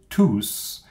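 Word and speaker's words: tous: pronounce the s but here when it's alone just like this you have to pronounce the s la femme de boulangerie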